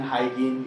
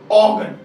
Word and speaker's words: Huygens: Pronounce करने के लिए लोग कुछ भी बोलते हैं, यूजीन, हाइगेन, यूगेन, हाइगेन, हाइगेन, कुछ भी बोलते हैं. इट इज ऑगन. ओके, ऑगन, तो यहां से बोलना ऑगन, इट्स अ डच नेम.